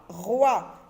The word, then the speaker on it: roi: Avec oua, roi. OI nous donne le son wa, roi.